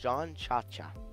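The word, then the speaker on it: Jean Ciaccia: The internet says his name is pronounced John Cha-Cha.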